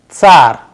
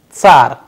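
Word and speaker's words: царь: A sample Russian word we have used which is again very similar to the English word, but the pronunciation is little different. Let us pronounce it tsar, tsar, which means czar.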